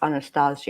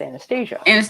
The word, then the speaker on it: Anastasia: if we're doing Russian pronunciation, because it's a Russian name, it's Anastasia. Anastasia. Right. But if it's American pronunciation, it's Anastasia.